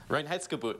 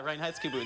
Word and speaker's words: Reinheitsgebot: I'm going to mispronounce it. Reinheitsgebot. Did I say that right? Reinheitsgebot, yes. Yeah, Reinheitsgebot.